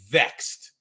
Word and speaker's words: VXT: Death Dolls defeated Vexed, and that's spelled VXT, which is the Death Dolls are Jessica, formerly Jessica Havoc, and Taya Valkyrie.